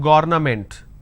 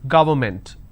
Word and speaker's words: government: the next is government it's not government don't say government it is government plurality determination derivatives apartment